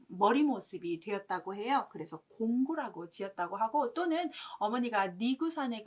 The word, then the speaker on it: 孔丘: 이제 공자의 이름은 공구라고 읽고요.